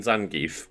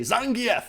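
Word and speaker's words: Zangief: but the thing like how how do you pronounce it is it Zang or is it zangie zangie I always grew up saying zangie because I guess I just don't know what that name is I've never heard of it before but then just apparently Street Fighter 6 to say Zang F wins it's like wait what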